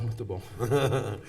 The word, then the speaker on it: muito bom: Muito bom? Yeah, muito bom.